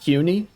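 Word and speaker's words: CUNY: abbreviated to CNY which I believe this pronounced Qi like q and then the word KN let's see City University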